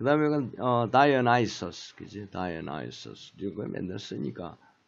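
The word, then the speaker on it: Dionysus: 그 다음에 이건 다이오나이소스, 그지? 다이오나이소스 이거 맨날 쓰니까 이제 뭘 썼지만. 그 다음에 허미스. 요거는 어떻게? 여기에 스트레스가 디미터. 데메테르가 아니고 디미터. 디미터. 다이오나이소스. 나이소스 액센트와 허미스.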